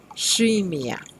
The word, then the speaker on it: scimmia: Remember that when we have the letter C next to the I, we must pronounce it as sh, shimia.